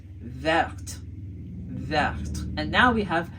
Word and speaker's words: verte: We added an E to the end and then we ended up with verte.